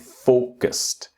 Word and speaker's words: focused: And the same here with focused that the strong syllable is the first syllable. Focused. Strong syllable in a word means that the you pronounce more time the strong syllable. So it's the start focus not focused or focused or anything like this is focused with the t sound.